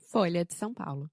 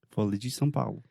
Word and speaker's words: Folha de São Paulo: pronúncia em português, porque, primeiramente, você tem a palavra folha, que tem o som de LH, que é difícil para os gringos, pelo menos é difícil para mim. E também em São Paulo, você tem uma vogal nasal, são.